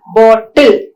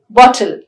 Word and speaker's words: bottle: written a week ago please fill this bottle with water not bor till bottle right so we don't double consonants doubling of consonants is an error which usually non-native speakers of english make then we have